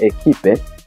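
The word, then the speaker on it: équipe: ni kama inamezwa eh ekip ndio maana timu ya mpira inaandikwa ekipe lakini inatamkwa ekip France timu ya Franceip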